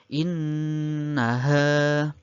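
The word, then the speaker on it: إِنَّهَا: Kemudian yang nomor 7, yaitu lafadznya innaha. Nah, nunnya bertasydid. Bacaannya adalah gunnah musyaddah. Dibaca mendengung karena nunnya bertasydid itu ya.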